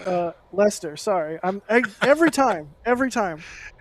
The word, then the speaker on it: Leicester: center which is a museum in leicester and leicester uh lester sorry i'm every time every time every time i'm not good at pronouncing things uh in leicester and basically they